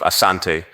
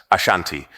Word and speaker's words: Asante: combat the denera kingdom the variant name Ashanti emerged from British reports where the pronunciation of Asante was transcribed as Ashanti reflecting how the British heard and interpreted the word the Ashanti Confederation which